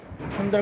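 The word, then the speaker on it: سين: সিন সিন হবে না লম্বা হবে চর পাখির মত আওয়াজ হবে সুন্দর করে সা সি উচ্চারণ হবে সিন বল সিন সিন সিন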